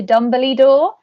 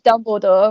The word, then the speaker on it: Dumbledore: i used to call him the head teacher dumbly door which of course is dumbledore but there we are what are you saying